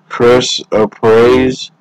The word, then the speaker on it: chrysoprase: Next one is, I'm going to pronounce this one too, so I do apologize, is chrysoprase, C-H-R-Y.